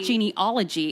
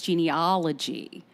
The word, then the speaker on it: genealogy: It's not genealogy, it's genealogy. See, it sounds like an O to Australians and Brits, but it's actually an ah.